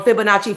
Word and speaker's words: Fibonacci: Fibonacci.